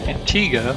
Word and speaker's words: Antigua: say good things for our stop in Antigua which is how the locals pronounce the name of the island we decided